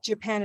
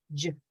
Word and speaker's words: Japan: many reasons uh but because when we know where the stress is then we also know what happens to the other syllable japan japan yeah so we have this little j j in the in the beginning and then it becomes big yeah great it happens